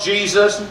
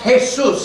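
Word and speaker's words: Jesús: Do you mind passing the salt Jesus? My name is pronounced Jesus and the salt is right in front of you, sir.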